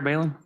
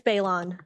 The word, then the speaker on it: Balon: Balin. Did I pronounce that correctly? It's Balon.